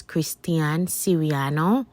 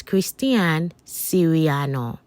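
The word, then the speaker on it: Christian Siriano: butcher the pronunciation of this perfume the actual pronunciation is Christian Serano and I definitely did not see that throughout the course of this video so my apology the correct pronunciation is Christian sirano thanks guys um with this one Christian Sereno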